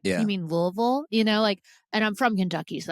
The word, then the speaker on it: Louisville: was like, "You mean Louisville?" And I'm from Kentucky, so that's why I know how to pronounce Louisville. Yeah, you want us to pronounce Louisville like you've got marbles in your mouth, like you're like an